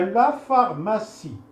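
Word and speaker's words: pharmacie: فا الى قدامو اي غيكون في وهكذا اذا لا فارماسي لا فارماسي لا فارماسي هي الصيدليه لا فارماسي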